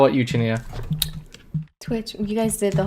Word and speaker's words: Chinita: Oh, I think I was in a stream where we talked about all the mispronunciations of just the part. So Chinita. Go ahead. Chinita.